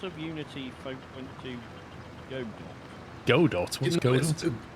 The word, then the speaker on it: Godot: It's not, not- Godot, but Godot, and I still don't understand why it's Godot. So why is there a T on the end of it? I don't know, Sean, but it is pronounced Godot.